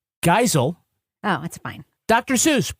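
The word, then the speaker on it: Geisel: to SAI that his last name is actually pronounced geel oh that's fine Dr zeuss pro-choice anti-fascist who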